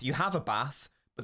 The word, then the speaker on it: Bath: And by the way, the place is pronounced Bath. You have a bath, but the place is Bath.